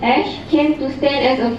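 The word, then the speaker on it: æ: The grapheme, we pronounce it as ash, came to stand as a full letter on its own.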